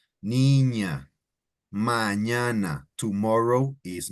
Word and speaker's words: mañana: Mañana. Tomorrow is mañana. Mañana. And it's spelled with an ñ, right?